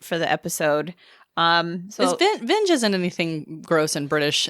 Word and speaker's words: Vinge: American English is actually her last name is pronounced vingi V and we found that out too late for the episode um so vinge isn't anything gross in British is it no